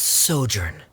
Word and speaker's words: sojourn: everything clear uh directors osimos how do you pronounce this word let me see Ah that's sojourn it means to stay for a while this